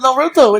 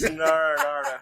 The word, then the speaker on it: Naruto: There's a new episode of Naruto. It's episode 750. You're saying it wrong, stupid. It's Naruto.